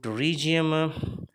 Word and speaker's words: pterygium: and advanced ones so to regium p is silent into region is one